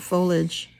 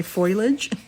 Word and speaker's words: foliage: different foliage maybe not I'm pretty sure it's pronounced foliage or foliage too I hear so many folks say foilage I giggle every time I see that I know it's not foilage is it foliage or